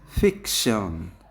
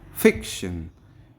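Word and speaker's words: fiction: ফিকশন, ফিকের পরে আমরা জোরে স্ট্রেস করব। ফিকশন।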